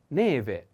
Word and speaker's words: neve: announce the first is neve put attention on the accent e the first e neve is a female noun and